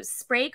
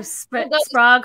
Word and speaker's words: Sprague: And then, of course, they sort of Sprague.